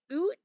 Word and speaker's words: Oort: Instead, you need to comment how to pronounce this, like, oot, but you can't, like, say oo, because then you have the R and it makes it weird.